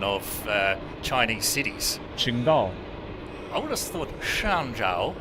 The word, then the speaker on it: Qingdao: Qingdao. I would have thought Shangzhou. Shanzhou. No, Qingdao. It's with a Q.